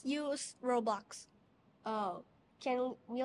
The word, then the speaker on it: Roblox: Robux? Roblox. Yes. Okay, Roblox. Did I pronounce it right?